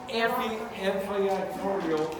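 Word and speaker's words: amphiarthrodial: Amphiatrodial is slightly movable. Can you break that down in like a syllable, keep one at a time? And Amphiatrodial. atrodial, amphiatrodial.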